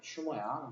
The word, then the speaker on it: humor: 휴머라는 거는 이제 이건이 영어로는 휴머야. 근데 이거 이제 H를 발음을 써 약하게 안 거의 안 하다 보니까 이게 유머가 되는 거.